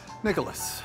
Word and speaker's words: Nicholas: How do you pronounce it? Nicholas or Nicholas? Nicholas. Nicholas. Like St. Nicholas.